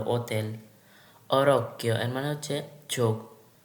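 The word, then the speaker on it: hotel: যেমন হোটেল, এটা কখনোই হোটেলের উচ্চারণ করে না, করে হচ্ছে অ থেকে উচ্চারণ করে ওতেল।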